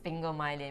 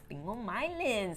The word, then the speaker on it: sphingomyelin: How do you pronounce it? Sphingomyelin. Sphingomyelin, which is a phospholipid derived from whey protein.